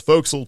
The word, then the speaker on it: forecastle: Yeah, because by then we had gone from the pointy end of the ship, which is called the forecastle, and it's spelled that way, or what we called forecastle, to the back end